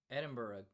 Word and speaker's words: Edinburgh: Dear Jane says, "Edin is pronounced Eden Burug." Edinburg. Edinburgh.